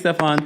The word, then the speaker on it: Stefan: Stefan, what did you want to share? Hey, how are you? Or Stefan? How do you pronounce it? It's Stefan. Stefan.